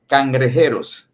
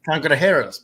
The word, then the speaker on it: Cangrejeros: Can you pronounce the name in Spanish for me here? The Cangrejeros. Cangrejeros, perfect.